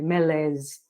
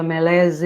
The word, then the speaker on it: malaise: até procurei engraçado porque é um termo francês mas ele existe no inglês intacto né e com a mesma pronúncia se você escuta a gente fala alguma coisa pronúncia francesa né e engraçado se você